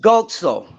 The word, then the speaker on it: Guzzo: it's pronounced Gozzo.